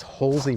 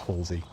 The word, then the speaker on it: Halsway: This is Halsey Manor, spelt Halsway, but pronounced Halsey.